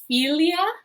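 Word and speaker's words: filia: so our next word philia philia uh philia philia remember that long uh that long eye is that e sound and that a e is that i sound from our pronunciation view this is our latin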